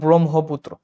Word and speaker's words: ব্রহ্মপুত্র: এই দুইটা আসতে পারে কারণ ব্রহ্ম এই উচ্চারণটা কিন্তু তোমার ম যোগ হ মিলে হয় এই যে এই উচ্চারণটা হয় ম যোগ হ মিলে ঠিক আছে এজন্য এটাকে বলব আমরা ব্রহ্মপুত্র এটাকে আমি লিখব হচ্ছে এভাবে মতে থামব আবার হ থেকে উচ্চারণ শুরু করব ঠিক আছে বা এগুলো